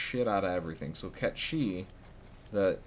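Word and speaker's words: Cait Sith: the out of everything so cat she the k that's spelled c-a-i-t space s-i-t-h which once again c-a-i-t-s-i-t-h pronounced cat she is the king of all cats um so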